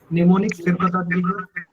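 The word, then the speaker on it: mnemonics: निमोनिक्स sir first निमोनिक्स basically M एन ई एम ओ एन आई सी एस। इसमें एम जो होता है वो साइलेंट होता है।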